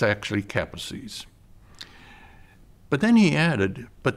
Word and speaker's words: Kaposi: met I welcomed them but I used the pronunciation that I had learned in medical school which was Kaposi's sarcoma and after welcoming them and thanking them